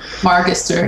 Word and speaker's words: Margister: Margister. Margister. It's a hard G.